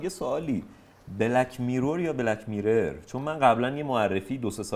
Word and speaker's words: Black Mirror: که بلک میرور بخوا همه تو ایران میگن بلک میرور من میگم کامل تلفظ ایرانی میرور اوکیه ولی بلک میرر میرر درست داره من دیگه مرور کردم بعد از اون که بهم انقدر گیر دادن دیگه گفتم بلک میرر بله ببخشید میگم کلامتون